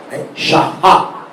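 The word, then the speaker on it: שעה: Al final, en el hebreo, cuando esta letra aparece, la letra Hei se debe pronunciar como una J. Shahá.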